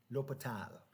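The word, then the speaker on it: L'Hôpital: Or you can put an S in there in the English spelling, Hospital, but it's pronounced L'Hopital. L'Hopital, like A as an an. L'Hopital, something like that.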